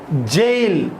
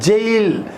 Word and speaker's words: gaol: GAOL, jail. Yes, we need to pronounce it as jail, JAIL.